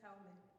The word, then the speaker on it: Jaume: Just Jaume. Jaume, Yes. Jaume, thank you.